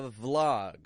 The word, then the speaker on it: vlog: YouTube is Vlogs a vlog okay what is a vlog I'm not saying blog because I said blog that's like written a written article so what is a vlog with a V sound a vlog is a